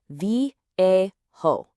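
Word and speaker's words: viejo: It's vo and it's pronounced roughly v a ho.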